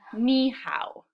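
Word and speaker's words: 你好: How about in ni hao? Ni hao. I hear two syllables.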